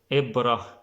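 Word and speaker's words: إبرة: in other words, like Ibra. Ibra means needle. Ibra means needle, then it's more like E or I, like Ibra, more like E, Ibra.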